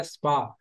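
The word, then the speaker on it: spar: फिर दूसरा लफ्ज हमने यूज किया स्पा। ये आर इसमें से साइलेंट हो जाएगा। स्पार लिखने में स्पार है लेकिन आर साइलेंट हो जाएगा।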